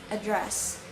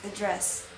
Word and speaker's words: address: last syllable, which is, in American, it's address. In British, it's address.